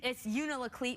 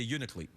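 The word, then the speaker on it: Unalakleet: I like that either it's Yuna Laclede but then no one like if you're local you don't say that you leave out a syllables so you just say uniquely yeah right okay so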